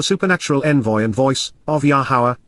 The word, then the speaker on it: Yahowah: Malak so the supernatural Envoy and voice of yahwah yahwah the proper pronunciation of the name of yahwah our eloa